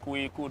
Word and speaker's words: Kweku: The name is pronounced Kweku, not Kwaku.